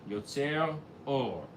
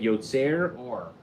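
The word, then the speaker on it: יוצר אור: They're worried about people saying, if you don't put that little break, Yotzer Or, you're pronouncing it that way. But if you pronounce it properly, Yotzer Or wouldn't be a problem.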